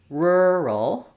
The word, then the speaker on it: rural: So an example might be a word like rural. The spelling is somewhat straightforward here, but doing the rural, those R's and L's together, is challenging.